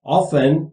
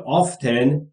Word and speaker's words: often: Children, یعنی بچه ها, often یا often, دو تلفظش هم درسته همونطور که قبلا گفته بودیم, یعنی معمولا یا اغلب, ask me, از من میخوان, به من درخواست میدن, for money, برای پول.